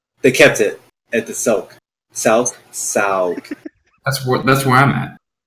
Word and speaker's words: souk: Souk. You mean like souk? Like Souk. market? Yeah. Yeah, I haven't been to many Arabian markets. I'm sorry. it's pronounced souk.